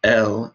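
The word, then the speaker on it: elle: that the word E-L-L-E, pronounced L, is the French for she.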